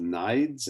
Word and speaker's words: Nides: State Department official Thomas, I think it's pronounced Nides, N-I-D-E-S.